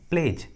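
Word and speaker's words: pledge: उसके बाद जी है, इसलिए ट्रिक के अनुसार डी का उच्चारण नहीं हुआ है, दोनों में डी साइलेंट है, डी का आवाज़ नहीं आ रहा है।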